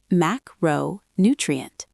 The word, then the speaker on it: macronutrient: Word two macronutrient Stress on the second syllable. Listen. macronutrient Repeat.